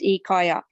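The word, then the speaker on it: Ikya: his name yeah it's spelled i-k-y-a but it's pronounced ikaya and this is a public person yeah he's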